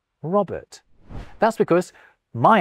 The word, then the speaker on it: Robert: To me, the second R in Robert is silent. Robert.